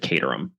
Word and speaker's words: Caterham: Chimneys, but I'm pretty sure it's Caterham. I actually forced myself to listen to a few minutes of the Agatha Christie's Marple adaptation of this book to double check that, and they do indeed pronounce it Caterham.